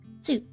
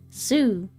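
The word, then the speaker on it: す: Su. You pronounce this as so in English. Su.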